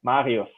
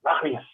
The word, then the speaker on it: Marius: pronounce my name, like the R sound in the middle, that Marius. Mm-hmm. They said like Marius, Mario, Super Mario, the running back, yeah.